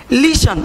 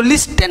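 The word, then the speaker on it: listen: लीशन, इसको लिस्टन नहीं पढ़ेंगे, लीशन।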